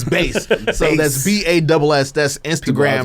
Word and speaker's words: Bass: Yeah, that's BASS. Customs, and it's not Bass, it's Base.